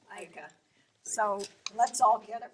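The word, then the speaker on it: Eicke: Our next artist is Edna Ika, which I've been pronouncing it Ike, and her daughter tells me it's pronounced Ika.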